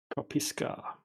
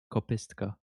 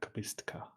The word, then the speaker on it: Kopistka: you should say it like kopistka. Yeah, kopistka.